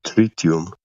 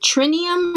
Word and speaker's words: tritium: Is it trinium or tritium? Tritium.